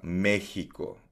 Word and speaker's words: México: And of course 'yung letter X sa Spanish, uh, usually pino-pronounce pino-pronounce niyan na parang hot, Mexico.